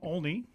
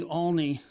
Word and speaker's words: Olney: a uh artist from olney and uh you know i i am worried that uh not many people say that right so we say olney like with an a but i'm i'm worried